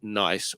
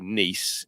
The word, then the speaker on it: Nice: these biscuits that are spelled ni ice and can be pronounced nice or nice if it's like a French version and he put that